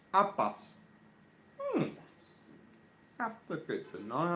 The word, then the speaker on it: habas: Pronounced habas.